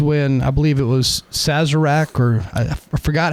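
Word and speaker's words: Sazerac: to blossom was when I believe it was Sazzarak or I I forgot how to pronounce it. Yeah, Sazzarak.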